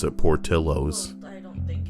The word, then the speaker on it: Portillo's: So how the hell would I know to pronounce it Portillo's? Well, I don't think it's American, but that's just how some people pronounce it up north. So instead of saying it Portillos, they say Portillo's.